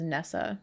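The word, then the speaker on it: Nyssa: I don't know, I'm gonna pronounce it as Nessa, but it's Nessa with a Y instead of an E.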